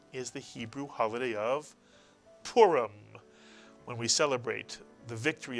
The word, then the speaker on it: Purim: The first syllable is pu, and the second syllable is reem, mitsuyan. The resh with the Heereek followed by a final mem is reem. You put the word together and you get Purim, Purim.